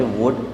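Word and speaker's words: would: Silent हो जाता है, तो इसे हम पढ़ेंगे वुड, वुल्ड ना पढ़ के हम इसे वुड पढ़ेंगे।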